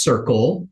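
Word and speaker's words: Cerkl: thank you think but somebody likes it it's pronounced Circle the idea is of feedback loop that's the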